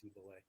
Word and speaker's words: Cybele: That's spelled Sybele, but I guess it's pronounced Cybele. Okay.